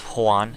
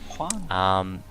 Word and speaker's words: Juan: you're meant to put a lot of emphasis on the H. Yeah. It's Juan, even though there's no H in there.